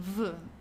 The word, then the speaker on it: wo: Then the next V which means where uh make sure the pronunciation VV in German. Okay. V. Okay. It's not like the English where or so.